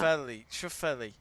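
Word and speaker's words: Schauffele: space and then it's f l e sha Shelli Shelli you are pronouncing it right he is gone now he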